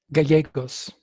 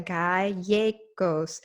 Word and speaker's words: Gallegos: Gallegos. Gallegos? Gallegos. In Spanish, it's a Spanish name, beautiful Spanish name. Gallegos. I like No, that. no, no. In Spanish, 2 L's are always pronounced as a Y.